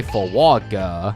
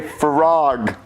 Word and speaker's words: frog: No, that's not how you say it. You say frog.